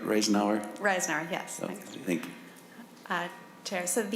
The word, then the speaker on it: Reisenauer: Reisenauer, and am I pronouncing it right, Reisenauer? Reisenauer, yes.